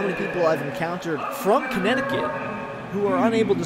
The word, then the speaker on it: Connecticut: You'd be surprised, honestly, how many people I've encountered from Connecticut who are unable to spell Connecticut correctly. It's that silent T, or excuse me, that silent C in the middle of the word.